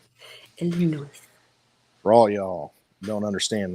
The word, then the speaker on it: Illinois: Not Illinois, Illinois. The S is silent. Illinois.